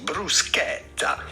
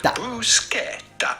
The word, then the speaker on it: bruschetta: Italian with the typical Italian pronunciation, bruschetta. Then because there is a double T here, insist on the E and the double T. Bruschetta. Do emphasize on that part of the word. Bruschetta.